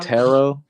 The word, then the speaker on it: Tarot: pronounce terot it's like tarot yeah like the t is silent Taro right yeah like